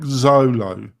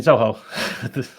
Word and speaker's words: Zoho: So more like Zolo, maybe. Zolo? Do you mean Zoho? Pardon? Yes. Zolo. Zoho. Yeah, Zoho. Sorry, it's my pronunciation.